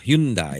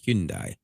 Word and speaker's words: Hyundai: And that is, and you can laugh all you want, but Kia and and uh Hyundai, and that's how you say it, by the way. Hyundai.